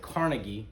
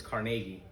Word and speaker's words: Carnegie: carnegie steel by the way in america we pronounce it carnegie but his real name from scotland is carnegie uh he sold carnegie steel in 1901 to